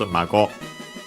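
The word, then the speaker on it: 孫: I think actually accent on the last syllable, yes it is, mago.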